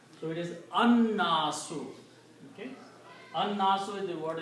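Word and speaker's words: النَّاس: And when you pronounce these together, you pronounce Noon twice, you don't pronounce Lam because Noon is a Shamsi letter. So it is An-Nasu.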